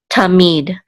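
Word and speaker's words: תָּמִיד: It's going to be on the last syllable. So this is mead, tamid.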